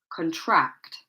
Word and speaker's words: contract: Okay, the stress is on the second part. Content. Remember, this is an adjective. Content. And for the other verbs, contract. This one, object. This one, record. Record.